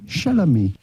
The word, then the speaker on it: Chalamet: By the way, I want to make sure we're pronouncing Chalamet properly. Do you have any advice for us? Anybody back there? Timothy Chalamet.